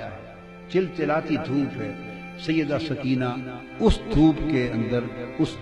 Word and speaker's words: سکینہ: جگر شہزادی سیدہ سکینہ, اصل نام ان کا عربی وزن میں سکینہ ہے, عرف عام میں سکینہ چلتا ہے, اصل لفظ سکینہ. سیدہ, میں عرف عام کا لفظ استعمال کروں گا, تلفظ بتا دوں سکینہ, سیدہ سکینہ, سیدہ سکینہ.